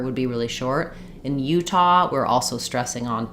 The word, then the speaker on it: Utah: so for Utah um so in Utah um we do actually stress on the U so it does U is longer um but we do